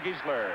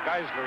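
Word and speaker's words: Giesler: the other guard and John gesler the offensive tackle or gisler he pronounces it and Mark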